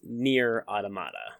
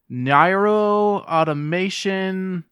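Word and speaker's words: Nier: Automata: console - correct and I like the way you pronounced it but it's near automata I okay let me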